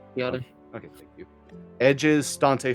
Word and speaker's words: Biadasz: Biadasz, I think is how you pronounce it. Biadasz.